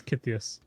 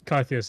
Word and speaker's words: Kythias: If you come from Sweden, it's Kythias. Kythias. But Kythias is how I say it.